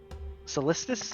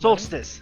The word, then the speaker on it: Solstice: Solistus or Solista? Yeah, what is that? It's another Or no, I'm thinking RPG of game. Solstice. right? Solstice. Thank you. Yeah, you're saying it correctly.